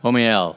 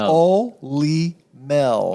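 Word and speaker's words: Olymel: never pronounce that right omel yeah hey I got it oh no you didn't no I didn't the way you say it is like honey you know honey om Oly Mel okay Oly Mel that's o all right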